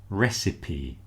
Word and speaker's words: recipe: So you'll notice the first word pronounced recipe with P on the end.